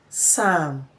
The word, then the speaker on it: psalm: Now, let's look at where this sounds, the letter P is silent. It is silent in words such as cupboard, cause, cause, cool, psalm, receipts, receipts, and so on.